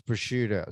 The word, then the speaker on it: prosciutto: a photo of prosciutto is that how you pronounce it yes that's prosciutto so it's it's literally a giant arm or